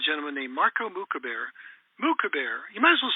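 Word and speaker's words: Moukhaiber: up up online m-o-u-k-h-a-i-b-e-r mooc Javier that's the way we say it he says it differently he says it wrong it's Marco moocabir and Marco is a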